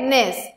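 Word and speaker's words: gneiss: फिर आता है नेस। नेस इज़ प्रोनाउंस्ड एज निस एंड इट is form from granite.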